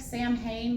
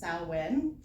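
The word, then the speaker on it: Samhain: like a feast or whatever afterwards um that spelled like Sam Hayne but it's actually pronounced salwin I'm not really sure why I think because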